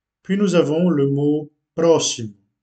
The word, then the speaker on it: próximo: Puis nous avons le mot próximo. Donc on accentue le premier O puisque c'est là où se trouve l'accent. Próximo.